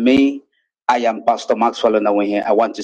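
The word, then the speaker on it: Onawuihe: Onawehe is spelled N-A-W-U-I-H-E. That is Onawehe.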